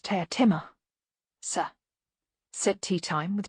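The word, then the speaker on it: Teatime: the Hearth rug playing with the dogs Mr tea time it's pronounced tear Timmer sir set tea time with just a hint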